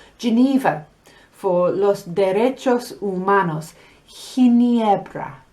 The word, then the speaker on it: Ginebra: Now, G is only like that when the next letter is E or I. So you have Gran Bretaña with a normal G sound.